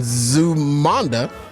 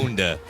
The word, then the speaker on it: Zamunda: Set in a lush and loyal country in Zumanda, newly crowned king. Did I say it wrong, DA? Oh my God. Zamunda. Oh my God. Zamunda. Zumanda.